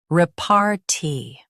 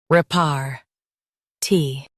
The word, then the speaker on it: repartee: Repartee. Both US and UK have the same pronunciation of this word. Repartee. Now read the syllables shown on the screen naturally. Repartee. Repartee. Stress rep and keep RT light.